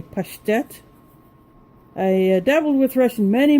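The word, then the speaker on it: паштет: This is the pate, or as Russians say, pashtet.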